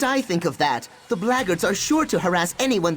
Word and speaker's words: Blackguards: If the Blackguards found them, there's a good chance they're keeping an eye on them. If you're another one of those blackguards, and that's the way to pronounce it, not